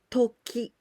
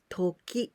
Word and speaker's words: 時: We can also pronounce toki, toki.